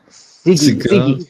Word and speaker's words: Sige: I kind of, is it like Ziggy. cigar? Ziggy, not cigar.